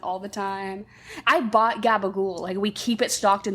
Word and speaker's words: gabagool: But it's because Italian people pronounce it so aggressively, like gabagool.